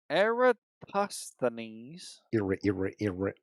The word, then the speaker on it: Eratosthenes: Hang on, let me say it right. Eratosthenes.